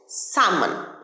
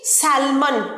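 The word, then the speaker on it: salmon: অনেকেই, আমি 10 জনের মধ্যে 9 জনকে বলতে শুনেছি স্যালমন মাছ, কিন্তু ভুল। এটার সঠিক উচ্চারণ স্যামন। স্যামন, এলটা completely silent, স্যামন।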